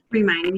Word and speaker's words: Remind: Remind, yes, you got it.